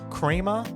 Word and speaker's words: Crema: Pokemon on steroids it's from Crema I think it's how you pronounce it it's spelled c-r-e-m-a if I mispronounce that